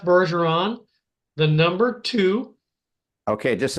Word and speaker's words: Bergeron: berson so it's F berson the number two okay just a second now people don't know your French and they don't know that's a soft G so spell your last